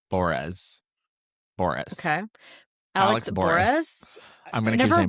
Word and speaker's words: Bores: I always say Boris, and it's Boris.